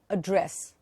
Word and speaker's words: address: But if I use the same word as a verb, I'll say address. I addressed the audience. Okay? So again, look, the word is same, address. A-D-D-R-E-S-S, but it can have two meanings depending upon how you pronounce it.